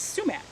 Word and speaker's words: sumac: to focus on sumac the american way of saying sumac is sumac it's spelled s-u-m-a-c and i grew up hearing everybody call it schumach and um so you